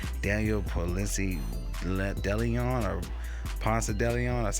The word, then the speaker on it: Ponce de Leon: 10.1 projection play, 64% advantage play, going against Daniel Ponce de Leon, or Ponce de Leon, that's how you pronounce it.